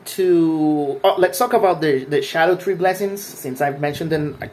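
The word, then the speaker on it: Scadutree: When it comes to the Shadow Tree fragment, and yes, it is pronounced Shadow Tree.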